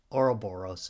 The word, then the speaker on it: Ouroboros: Not like they pronounce it in Red Dwarf. Ouroboros. But I kind of like it because Ouroboros is the correct pronunciation, okay?